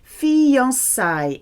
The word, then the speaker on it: fiançailles: Engagement in French is fiançailles. If you think of fiancé, it's a French word, isn't it? Fiançailles. It's used in the plural. It's a feminine plural word. It rhymes with Versailles. Fiançailles à Versailles.